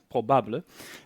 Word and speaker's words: Probable: As of recently, I've started working at a company called Probable, or as the French like to pronounce it, Probable.